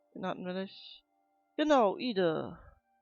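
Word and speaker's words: Edie: Genau, Ide. Oder Idi. Ich glaube, das wird Ide ausgesprochen.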